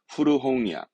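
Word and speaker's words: 古本: 발음은 후르홍이야, 후르홍이합니다.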